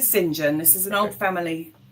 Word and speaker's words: St John: Is it Do you pronounce your surname St. John or Singen? Okay. So, we're pronouncing Singen.